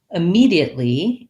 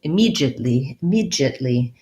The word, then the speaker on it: immediately: And then immediately, yeah, so you noticed that some speakers from the UK are going to say it immediately, and Americans are going to say immediately. So we keep that D sound as a D, and they change the D sound to a J sound, more of a J sound, immediate. So ours is immediately with an E, the stress there, immediately.